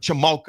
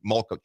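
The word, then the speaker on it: Chmelka: I always forget how to pronounce Chuck Chamalka. Chamalka. I always want to say Malka.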